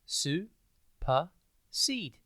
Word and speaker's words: supersede: TV today's word is supersede it's pronounced Su seed and it is spelled s u p e r s e d e think Super and then seed suped means to take